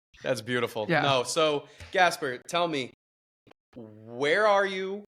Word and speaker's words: Gaspare: So at an early age, I realized just say like Casper with a G, and it works much better.